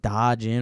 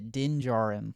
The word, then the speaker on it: Din Djarin: Is it like Da Jin or something like that? It is Din Djarin.